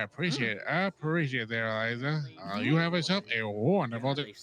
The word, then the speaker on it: Eliza: Is it Eliza or Alisa? It is Eliza. You said it correctly.